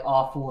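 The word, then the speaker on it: offal: Apparently awful is spelled O-F-F-A-L.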